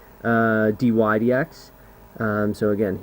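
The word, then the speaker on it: dy/dx: respect to x uh dydx um so again here's how you say it Dy DX say it with me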